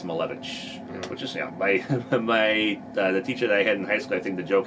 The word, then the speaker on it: Malewicz: name's pronounced, and I'm it's not Malewicz, it's Malewicz.